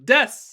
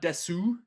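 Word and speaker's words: です: Notice how there's no oo. It's not desu. You can actually pronounce the oo just like you can pronounce the oo in the masu, but we never do almost.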